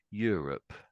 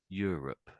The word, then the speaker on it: Europe: So, I'm I'm saying Europe. Europe. So, Europe. Yeah. Yeah, that sounded better actually. So, this the first little bit is sort of like you almost in a sense you or me, but it's you.